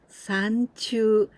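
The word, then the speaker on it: 山中: San, but here we pronounce in onyomi, sanchu, in the midst of the mountain or in the mountain.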